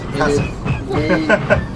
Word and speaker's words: Hees: And according to his dad, it's actually pronounced Hesse. Which, if you're in Germany, isn't terribly far off. The German pronunciation of my name is Hesse.